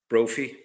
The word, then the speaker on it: Brophy: Brophie. Like trophy.